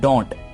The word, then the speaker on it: don't: अब don't ये जो साउंड है इसको आपने यहां पर नहीं लेकर आना. Don't बस हल्का सा टी प्रोनाउंस कर दीजिए.